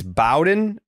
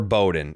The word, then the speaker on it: Bowen: It's Brian Beao versus It's Bowen or Bowden. It's Bowen. Bowen Francis.